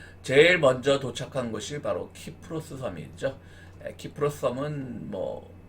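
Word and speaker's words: Κύπρος: 우리 한글 명칭인데 구브로스, 그러니까 사이프러스, 그것도 영어식 발음이죠. 정확하게 말하면 원어를 중시하면 키프로스가 되겠습니다.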